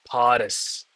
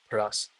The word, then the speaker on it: Paris: Okay, it should be pronounced Paris, not Paras. Paris.